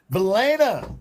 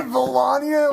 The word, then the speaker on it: Valaina: Valaina is who we're looking for, folks. Valaina. Elena. Yeah. Did And you just say Valania?